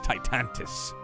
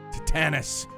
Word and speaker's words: Titanus: Gaius Titantus. Titanus. I said it wrong.